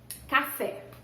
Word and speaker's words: café: Então, café é uma oxítona, certo?